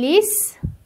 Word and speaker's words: lisent: lisez"(ترکیب "ez" مانند "é" به نظر می رسد)، "vous lisez"، "ils lisent"، "elles lisent" ( ent is silent).